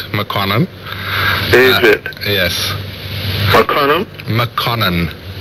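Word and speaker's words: Makonnen: Mokonene. Spell it.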